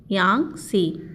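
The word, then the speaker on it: Yangtze: सबसे लंबी नदी है यांग सी इसमें जो यह है साइलेंट है टा तो यह एशिया की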